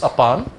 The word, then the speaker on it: apan: mudra or upon mudra ap a a N or apan whichever you want to spell it it's upon so you look at